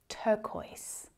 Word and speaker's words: turquoise: They're similar, but not quite the same as turquoise. Turquoise. So it's another really tricky one to say if you're just looking at the word.